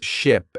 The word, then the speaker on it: ship: Ship has a short I sound like in sit and sheep has a long e sound like in sea.